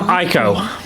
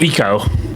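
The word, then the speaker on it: Ico: But Yorska reminds me of the name Yorda from Aiko. Not I guess it's pronounced Eco.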